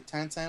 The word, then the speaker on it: Tintin: I call it Tintin because in Canada, of course, we speak French partly, and it's a French comic, so a Belgian comic or something. So I tend to gravitate towards the French pronunciations.